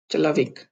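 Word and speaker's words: человек: अब ये है च, ये भी एक्सेप्शन है क्योंकि यहाँ पे जो ओ है वो आ की तरह प्रोनाउंस होता है। चला, वे, चलाविक, चलाविक।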